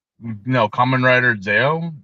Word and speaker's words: ZO: not seen uh what how is it pronounced zo zo no common riter zo z o That's goo